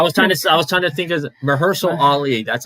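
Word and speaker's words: Mahershala Ali: trying to I was trying to think of mersal Ali that's how you say his name um but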